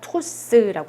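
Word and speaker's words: trousse: 윈토스, 오으는 우 발음 난다 라고 했죠. 그래서 토스라고 합니다.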